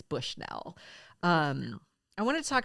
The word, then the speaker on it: Bushnell: about Candace Bushnell and that is how she pronounces her last name that was actually reported in something I read it's Bushnell um I wanted to talk about her a